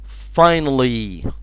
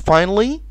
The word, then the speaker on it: finally: okay the next word finally. كلمة finally، finally ما نقولش finally. الايه هنا من الحاجات اللي بنسميها in English schwa sound.